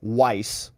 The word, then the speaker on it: Weiss: One named Leo Wise, which is very closely phonetically related to Weiss, but it's not the same. It's Wise versus Weiss.